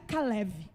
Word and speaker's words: Calebe: O significado do nome Calebe no hebraico quer dizer, no hebraico o nome Calebe se pronuncia Caleve.